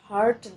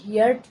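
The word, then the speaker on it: heard: I have হার্ড that এর অর্থ হচ্ছে আমি শুনেছি যে। এখানে হিয়ার্ড না বলে বলবো আমরা হার্ড, অর্থাৎ হিয়ার্ড হচ্ছে ভুল উচ্চারণ আর হার্ড হচ্ছে সঠিক উচ্চারণ।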